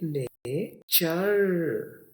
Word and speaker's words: nature: तो ये देखिए ने, चर। जहां पर भी TURE आए, आवाज चर याद रखनी है।